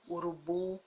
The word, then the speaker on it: urubu: nesse grupo de palavras que a última sílaba é pronunciada com mais força com mais intensidade por isso que a escrita com o no final por conta dessa intensidade por conta dessa força ao pronunciar a sílaba a última